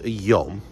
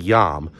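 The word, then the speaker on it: יוֹם: I always hear it pronounced yam, but when I looked it up, I believe it's a long o sound.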